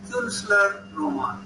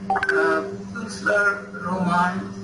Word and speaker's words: Künstlerroman: But here there are the points, that is, there is the umlaut, which means it will be pronounced U. And therefore the word Künstlerroman is derived from the word Kunst.